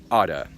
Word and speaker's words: ought to: We most often use it in positive sentences, and because we always use it with the infinitive with to, we generally say it like one word, oughta.